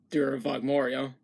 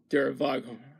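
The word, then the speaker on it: Der Voghormya: Anyways, the song itself is an adaptation, it's an adaptation of the song Dura Vagmoria. No, it's Dura Vagormia.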